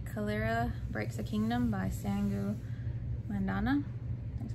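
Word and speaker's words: Sangu Mandanna: And I have Kiki Kalira Breaks a Kingdom by Sangu Mandana.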